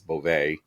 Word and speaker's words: Bove: Was pronouncing it Bove on Friday, but apparently his name is Beauvais.